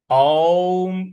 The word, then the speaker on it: ओम: देखिए, यहां ओम का जो उच्चारण है वो अ उ और म इनसे मिल के बना हुआ है, तो इसका वैसे ही उच्चारण करेंगे। ओम। ओम इस प्रकार से बोलेंगे, ओम नहीं बोलना है।